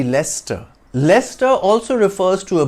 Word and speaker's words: Leicester: Gateway of India ah leester it's a city in England whose name has a tricky spelling that leads to it being mispronounced as Lester it should be Lester Lester also refers to